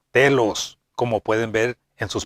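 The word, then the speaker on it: τέλος: La palabra perfecto y perfección vienen de la palabra griega que se pronuncia telos, como pueden ver en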